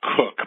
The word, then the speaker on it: Koch: last name right sir it's actually pronounced cook but it happens all